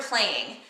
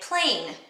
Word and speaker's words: playing: Especially here in Wisconsin, let's say the word playing. A lot of times we say it plain.